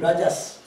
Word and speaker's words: Raja: The same as Raja. Like a Raja. Okay. Like a Raja. It is Raja. Raja. In Bengali sometimes they put O. Raja, Rajo. Or that is more Bengali pronunciation like that.